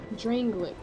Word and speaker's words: Drangleic: And in Drang Lake these days, there are very few places like that. Drangleic. That's how you say it.